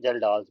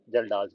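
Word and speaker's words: Kjeldahl's: इसके लिए there are to commonly used methods, that is Dumas method and जल्डाल्स method. के silent है, जल्डाल्स मेथड।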